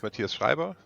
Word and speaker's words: Mathias Schreiber: yeah my name is Matias shriber uh that's the the the harsh German pronunciation um I am currently